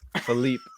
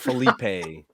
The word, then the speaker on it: Philippe: Philippe. It's Philippe. Yeah, but Philippe. It's not Felipe. Yeah, like flip flop.